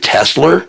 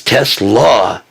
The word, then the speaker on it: Tesla: You said Tesla. It's Tesla. Tesla like Nicola Tesla.